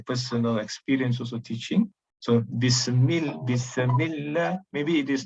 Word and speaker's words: Bismillah: Okay, so here, ba, like I mentioned just now, ba almost doesn't exist in pronunciation. Okay, almost doesn't exist in pronunciation. Then, in excess of the sifatu sin, as though there is qalqalah in sin. Bismillah.